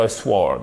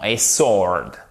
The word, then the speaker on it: sword: Là, par contre, c'est moins courant parce qu'on pourrait dire a sword. Non, a sword. Donc, on va reprononcer ces quatre-là, chers amis.